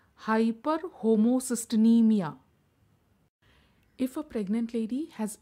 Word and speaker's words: hyperhomocysteinemia: is called as hyperhomocysteinemia pronounce it as high per homo CIS tin e Mia hyperhomocysteinemia if a pregnant lady